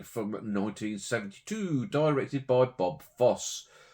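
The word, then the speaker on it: Fosse: 1972 directed by Bob Foss. I presume you pronounce it Foss and not FSY. I mean, we have the Fossway Rogue that's spelled the same. So, yeah, we'll go with Bob Foss.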